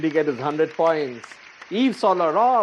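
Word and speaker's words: Yves Saint Laurent: get his hundred points eve solar raw of course that's i think the only french pronunciation i can confidently crack someone look at that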